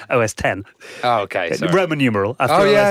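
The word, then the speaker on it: OS X: in there but yeah you don't pronounce it OSX so that's what was being there you know a b bear what is it OS 10 oh okay Roman numeral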